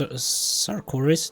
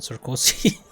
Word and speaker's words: Sarkoris: By the way, it's only now that I realized that this is pronounced Sarkoris, not Sarkozy. This saddened the shimmering maiden.